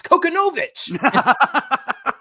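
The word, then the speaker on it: Kochanowicz: I gotta laugh because at some point we were talking about Konowitz and somebody was like, "You guys are saying it all wrong. It's Konowitz."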